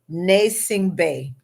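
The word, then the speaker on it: Gnassingbé: It is Nasing Bay. The G, it starts with a G, but the G is silent.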